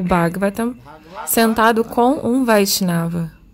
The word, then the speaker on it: Bhagavata: Então, Bhagavat. Tem quatro sílabas. Bhagavata.